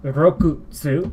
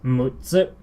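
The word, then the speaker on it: 六つ: So it's not rokutsu, it's mutsu.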